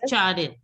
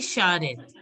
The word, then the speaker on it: charrette: CH, generally some of you were pronouncing it as Charrette. The CH is SH. So it will be Sha. Sha. SH. So it will be Sharet.